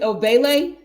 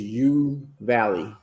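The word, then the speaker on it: Uvalde: the population of do you pronounce it obele it is you valley you valley um mostly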